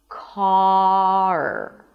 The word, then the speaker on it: car: Do not raise your tongue before you're done pronouncing the vowel. The vowel itself is the a as in father. So the tongue drops down, the back of the tongue pushes down a bit. The mouth opens and in this case because of the R the lips round a bit.